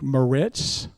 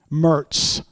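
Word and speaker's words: Moritz: John Nicholas Mertz, spelled M O R I T Z like Meritz, but locally pronounced Mertz.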